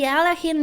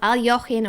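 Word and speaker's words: Alekhine: Whoa, the Alachin defense, or Aljochin, or Alekine. So many pronunciations for one brilliant chess player. Alachin.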